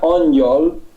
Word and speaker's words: angyal: En húngaro mismo, si aquí después de la G, no sé si se ve bien en tu pantalla, ponemos GY, se pronuncia Angyal y significa exactamente ángel.